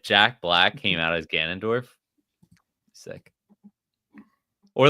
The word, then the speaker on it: Ganondorf: I always say Gandalf instead of Ganondorf. Always mess that up.